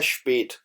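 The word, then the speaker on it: spät: हम उमलॉट लगा देंगे, क्योंकि ये है बेसिकली इसकी प्रोनाउंसिएशन है स्पेट। इस वजह से इसके ऊपर ये जो है उमलॉट आप देख रहे हैं ये ए ई के माने में इस्तेमाल होती है।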